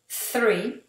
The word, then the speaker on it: three: So Philippa said, what is the difference between three, tree, and I'm free? So the difference, you've got a TH for the number three.